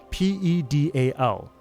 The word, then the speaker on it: pedal: Word P E D A L. Proper pronunciation. Pedal rhymes with settle.